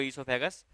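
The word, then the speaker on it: oesophagus: ओ silent रहता है, इसको ईसोफेगस पढ़ते हैं।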